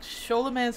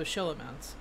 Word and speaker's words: Scholomance: I don't know if it's Scho or Sho, but whatever. I'm going to, like, Scholomance, I'm going to pronounce how you do, like, Schwartz or Schneider or. You know, something with an SCH.